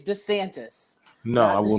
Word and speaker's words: DeSantis: also y'all but please can you pronounce the shitty's name right it's desantis no i will not